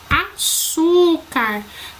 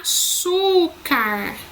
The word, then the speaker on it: açúcar: que a penúltima sílaba a açúcar açúcar E também temos como penúltima sílaba a mais forte e a terceira